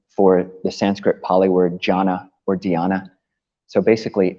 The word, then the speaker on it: jhana: Jhana. Yeah, that's a Pali word. So it's spelled J-H-A with a line over the top, N-A, jhana.